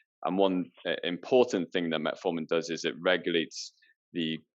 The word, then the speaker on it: metformin: How does Metamorphin work in terms of helping insulin work better? I think it's normally produced metformin.